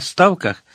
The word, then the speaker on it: ставках: Мати казала, що вона там на ставках. Саме так на польський манір з наголосом на першому складі у нас в селі називали той ставок серед лісу.